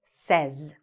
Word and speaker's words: says: what's happening here basically even though the spelling is like almost the same the pronunciation is like s-e-z here he says she says it says okay so this is say this is says we should be able